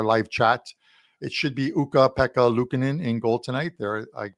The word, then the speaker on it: Ukko-Pekka Luukkonen: And for TJ Salvador, who's going to probably pop into our live chat, it should be Ukko-Pekka Luukkonen in goal tonight. There, I pronounced it once again for you, but it